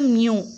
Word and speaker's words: μ: மேலும் கிரேக்க எழுத்து யூ, இதன் உச்சரிப்பு மியூ அப்படின்னு சொல்லுவாங்க.